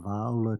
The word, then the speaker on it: Viola: many producers competed for viola Tracy pronounce it Viola please with the accent on the first syllable she displayed her magnificent